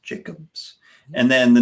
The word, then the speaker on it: Tom Jackobs: Looks like Jacobs, but it's pronounced Jacobs.